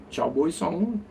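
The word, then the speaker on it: chào buổi sáng: Like you could cowboy song by Lizzy. You just think cowboy song and you say, "Well, how do you say good morning again?" Oh, it's cow boy song. Chow boy song.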